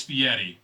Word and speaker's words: Fieri: It's Fieri, isn't it? Fieri. That's how it's pronounced. It's spelled Fieri, Guy Ferrari. but it's Fieri. That's how you say it.